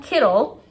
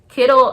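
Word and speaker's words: Kiddle: started their research so i put them on kittle kittle i think i'm pronouncing it correctly k-i-d-d-l-e kittle dot co c-o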